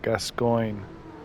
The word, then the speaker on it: Gascoigne: And the only reason I know how to pronounce that is because obviously I played the game before. So Gascoigne and Viola.